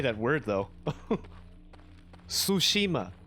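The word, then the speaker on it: Tsushima: say that word though sushima sushima it's not t Shima it's sushima but I can't I can't get that that TSU pronunciation down in a in a uh distinctly Japanese manner yeah that that is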